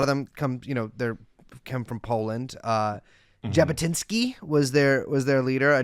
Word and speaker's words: Jabotinsky: Jabotinsky was their leader, a name I've never said out loud, so if I'm mispronouncing it, then I am. No, you got it perfectly. Vladimir Zeev Jabotinsky.